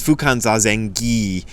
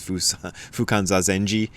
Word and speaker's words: Fukan Zazengi: So it's Fukan Zazengi, because when you see a G in transliterated Japanese, it's always pronounced ga and never ja, but a lot of people see it and think it's like an Italian word and think it's Fukan Zazengi and think it's a